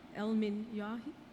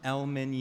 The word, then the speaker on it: El-Minyawi: And I'd like to also ask to come up El-Minyahi. Did I pronounce that correctly? Please help me. Say that correctly for me. El-Minyawi.